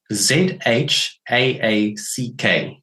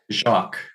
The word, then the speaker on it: Jaques: So Zhaack is the way to pronounce it. And your second try was pretty good. Jacques. Yeah, right. Jacques. Like Jacques Cousteau. That's the it's like the French.